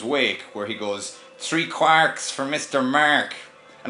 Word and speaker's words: quark: amazing we pronounce them quarks now do you write the actual in terms of the joistian pronunciation would be quacks like a course I think it's